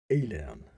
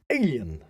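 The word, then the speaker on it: Aillen: fire breathing underworld dweller alien that sounded like alien it sounded like alien but it spelled a-i-l-l-e-n and one alien way of saying that well so he faced the fire breathing underworld dweller alien or alien who would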